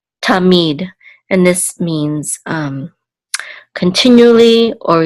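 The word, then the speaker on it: תָּמִיד: It's going to be on the last syllable. So this is mead, tamid.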